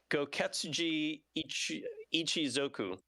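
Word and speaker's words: Gōketsuji Ichizoku: The title is part of the Power Instinct series of fighters, also known as the, if I can pronounce it right, Goketsuji Ichizoku.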